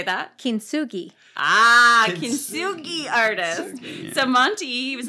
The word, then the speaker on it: kintsugi: moms over the years and has become a kitsuchi artist i'm going to need you to unpack